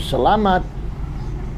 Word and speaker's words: salamat: And it is salamat. Accent is on the middle syllable.